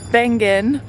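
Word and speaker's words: Wengen: we're in wangan or ban it's a w but it's pronounced like a V and we just found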